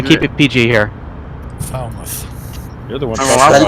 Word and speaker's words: Falmouth: It is not Falmouth, it's Falmouth. That's how you pronounce it. Yeah. I know some of us have foul mouths, but you know what? We want to keep it PG here. Falmouth.